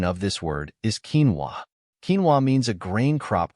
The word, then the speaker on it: quinoa: is spelled as q n o the correct pronunciation of this word is quinoa quinoa means a grain crop grown primarily for